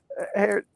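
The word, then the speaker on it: Herr: Tino says poor couldn't couldn't pronounce the German word you posted in the last episode here. Uh, Earl Her is pronounced the same as her, but it means mister in German and Norwegian.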